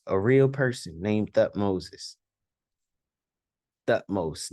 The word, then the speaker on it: Thutmose: Thutmose, not Thutmoses.